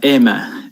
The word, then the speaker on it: Aimer: rock singer now nvt is it a myrrh or almond I've heard that it's a French pronunciation if you print yeah it's like Emma Emma yeah her new song